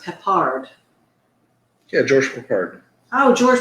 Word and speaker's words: Peppard: He says it's pronounced Peppard.